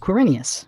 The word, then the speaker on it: Quirinius: It's pronounced Quirinius.